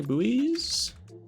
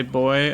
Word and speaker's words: buoy: Some would say boy, as it's pronounced buoyant instead of buoyant. It's a good point. But I've never heard anyone call it a boy instead of a buoy. Buoy like gooey.